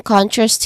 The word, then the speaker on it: contrast: Contrast has two distinct sounds or two syllables. The first syllable con is the stressed syllable here, and then the second one, trust, it is less stressed, of course, because the first one is already stressed. So con has a short o sound, like in ton, like ton, con, ton.